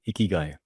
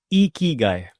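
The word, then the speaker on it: 生き甲斐: गाय हम स्टार्टिंग करते हैं बेसिक से the pronunciation of the word इकी गाय या इट्स इकी गाय सो ये जो चीक्स है वो ऊपर हो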